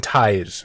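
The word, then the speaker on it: Theis: written by I believe his name is Jim Thais is how it's pronounced by the way credit where credit is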